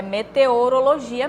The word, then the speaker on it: meteorologia: padrão da língua certo meteorologia será que está correto É sim essa aqui está correta é meteorologia mesmo tá é assim que se escreve mete-a na letra B